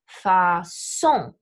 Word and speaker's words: façon: The French loan words are all going to be emphasized on the final syllable, such as façon will get off here and take an S, or engagement, right? Emphasized on that final syllable, gets off here and takes an S.